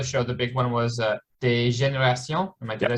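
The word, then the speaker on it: Dégénérations: Well, we were talking before the show, the big one was Des Générations.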